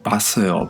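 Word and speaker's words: 봤어요: su pronunciación base o si hablamos un poco más rápido queda como paseo paseo y seguro que habéis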